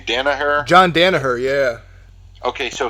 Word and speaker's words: Danaher: Danny how do you say that guy's name Danaher John Danaher yeah okay so he was on